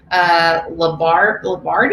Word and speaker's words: Lombardi: Lombardi, I think is how it's pronounced.